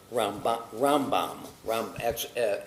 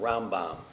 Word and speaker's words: Rambam: And to make a distinction as we say it, because M and N can sound similar, we say about Maimonides, Rambam, emphasis, accent on the first syllable, Rambam. But Nachmanides is Ramban. So that helps us to distinguish the two.